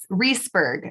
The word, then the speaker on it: Reisberg: today's guest is riseberg did I pronounce that right close reeberg is my last name oh man because you